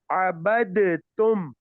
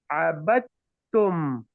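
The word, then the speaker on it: عَبَدْتُمْ: Although it seems like a qalqala here, but if it was a qalqala, I would pronounce it abadtum, which is wrong. Why? Yes. Because the next letter has a shadda. If the next letter, we have a sakin letter with the sukoon, and then the next letter following it has a shadda, what do? We just drop the letter with sukoon. Now we pronounce it abattum, abattum, and not abadtum.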